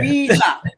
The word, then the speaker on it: Rizza: time of sharing, Brother Rissa. I'm this is Rissa or Rissa. I want to say it correctly now. It's Rizza Islam, technically. Yeah. Rizza. Okay, not Riss. Rizza is the Yeah. Z.